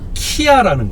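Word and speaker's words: Kia: 영어권 사람들은 기아 브랜드에 대해서 우리하고 전혀 다르게 발음을 합니다. 키아라는 거죠. 아, 키아.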